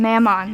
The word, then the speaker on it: Mammon: Well, you have a packed day today, and I know you aren't big on the whole Mammon thing. Mammon, that's how we pronounce it.